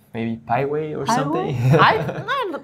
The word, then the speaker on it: Piwai: I pronounce it, but that was before I really learned English.